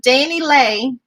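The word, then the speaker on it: DaniLeigh: point because nobody tries to rescue me anywho danny lay is how you say it is um facing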